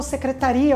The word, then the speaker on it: secretaria: É o caso, por exemplo, de secretária e secretaria. Então, secretária é a pessoa, secretaria é o lugar. Ou sabia e sabiá, sabiá o animal, sabia de saber alguma coisa. Então, as palavras são escritas da mesma forma, mas são pronunciadas de maneira diferente.